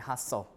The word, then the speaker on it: hustle: T and S cluster uh T is also lost in s cluster uh be uh for example Castle Hassen wrestle listen and hustle right uh also the D